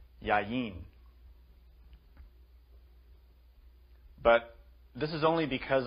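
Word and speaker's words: יין: understand why the Hebrew word for wine is pronounced yayin but this is only because of a general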